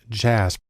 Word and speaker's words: JASP: It's actually pronounced JASP, which is sort of an open source version of SPSS.